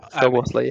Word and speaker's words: Szoboszlai: Can you describe I know that in your playoff final against Iceland, Szoboszlai, I think that's how you pronounce it. Szoboszlai, yeah.